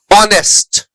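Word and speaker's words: honest: Honour, honour के beginning में एच है लेकिन एच का प्रोनाउंसिएशन नहीं होता है। आर, ऑनेस्ट, रिदम, है ना, इन सारे वर्ड्स में यहां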